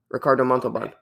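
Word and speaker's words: Ricardo Montalbán: Ricardo Montalban. No. Yeah, no, that's actually how you say it. Ricardo Montalban.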